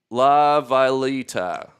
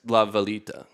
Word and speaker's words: La Villita: And James says it's pronounced La Villita. Thank you. Villita. Villa. Little village. No, it's La Villita. The little village, I believe.